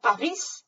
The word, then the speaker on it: Paris: De même, Paris, on dit Paris, mais vous avez le prénom Paris. Simplement, il s'écrit la même chose, mais on prononce le S.